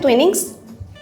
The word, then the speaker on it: Twinings: Sudah benar seperti itu bacanya Twinings?